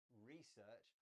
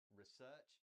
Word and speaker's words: research: Beth, you said research. I say research. It's just a change in word stress, and both are fine.